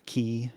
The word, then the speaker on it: Quay: containers the containers are from quay or key depending on how you pronounce it they're running out of